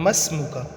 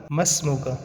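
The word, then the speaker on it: ما اسمك: ہوتا ہے وہ ہے مسمکا۔ مسمکا جو لکھنے میں ہوتا ہے ما اسمو کا، اور اس کو پڑھتے ہیں مسمو کا، ٹھیک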